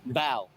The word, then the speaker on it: Bao: Bao. Bao? Bao. How do you spell it? B-O-W? B-A-O. Oh, B-A-O. Bao. Yeah, like the Chinese bun.